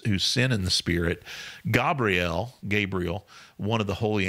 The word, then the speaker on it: Gabriel: that you're saying that Gabrielle I mean you're correcting yourself that's how it's pronounced but how what do you mean it's that's how it's pronounced that's how it's pronounced in Hebrew Gabrielle Gabriel we say